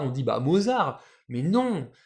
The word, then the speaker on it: Mozart: qu'on le voit écrit Mozart on dit bah Mozart mais non c'est un prénom autrichien donc allemand qui se prononce bien à l'allemande Mozart donc mozarto et